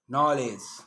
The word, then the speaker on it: knowledge: A K is not pronounced when it comes before an N, like knife, no, knee, knock, not, knowledge.